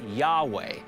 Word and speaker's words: Yahweh: in the Old Testament was probably pronounced Yahweh and comes from the Hebrew verb to be.